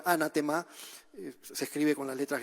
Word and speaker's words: anatema: La palabra anatema en griego se pronuncia prácticamente igual, anatema, se escribe con las